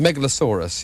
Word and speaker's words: Megalosaurus: hog goblin number six they Megalosaurus that's the way pronounce it the Megalosaurus yes that's a line